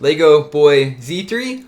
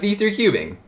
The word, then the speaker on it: Z3 Cubing: Is your name pronounced Lego Boy Z3 or Lego Boys 3? Neither, it's pronounced Z3 Cubing.